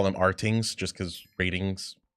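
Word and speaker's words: RTINGS: by they they uh it's like ratings is how it's pronounced. I just call them Rings just cuz ratings it's missing the you know other aspect to it.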